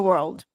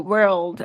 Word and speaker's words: world: World é como se fosse um e aí na hora de pronunciar o o world. World. Aí aí realmente você tem que levar a língua no céu da boca.